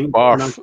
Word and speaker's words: Bath: I mean, I'm like, it's spelt Bath. Come on. Yeah. But it's Barth.